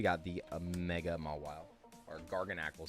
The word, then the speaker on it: Garganacl: We got the mega mwa or garganacle. Sorry. Garganacle. We did discover that. That was the proper way to say garganacle.